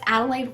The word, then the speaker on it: Adelaide: lemonade I think because Adelaide rhymes with lemonade I just had this